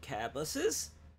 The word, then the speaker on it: Cabbusses: You have real hardware for your PC Engine cabuses. Yeah, that's how I pronounce my own name, by the way.